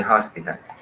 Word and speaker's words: hospital: He is in the hospital. Recordemos, la H aquí se está pronunciando como la J sería en español. In the hospital. Y como dije, no es necesario arrastrar y decir fuerte la J, hospital.